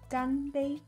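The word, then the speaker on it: 干杯: Cheers in Mandarin is pronounced ganbei.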